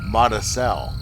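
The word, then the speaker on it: Mazatzal: of the central arizona montessori is pronounced mata cell oh okay this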